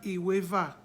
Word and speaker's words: Iweva: We have Iweva. There's no diacritic. Iweva is 12. And that 12 is spelled, Iweva is spelled as I-W-E.